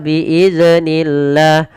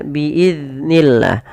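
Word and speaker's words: بإذن الله: Contoh biidnillah. Biidnillah itu memantul zalnya. Nah, harusnya tidak boleh ya dipantulkan. Bagaimana cara membacanya? Biidiznillah.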